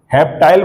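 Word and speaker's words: heptyl: हेप्टाइल बोलो या हेप्टिल बोलो, तो इसको क्या बोलेंगे बच्चों?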